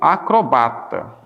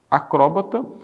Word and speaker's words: acrobata: Exemplo básico aqui é, por exemplo, o e o acrobata. Acróbata e acobrata. Acrobata. Tanto faz aqui, ó, ela ser proparoxítona quanto ser oxítona.